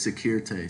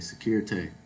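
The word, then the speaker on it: Sécurité: word D, security, or the pronunciation you'll most likely hear is securite, securite.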